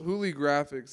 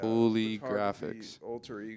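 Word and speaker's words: Hooligraphix: there you go yeah play on uh like uh holographic but it's holy graphic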